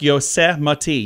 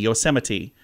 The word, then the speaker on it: Yosemite: is Lu VRA luvra Yosemite National Park yosemati Yosemite uh the Thames river